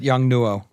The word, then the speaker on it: Yongnuo: How do you pronounce that? I pronounce it Yongnuo. Okay, Yongnuo. I hear lots of different pronunciations, but that's how Yeah, that works for me.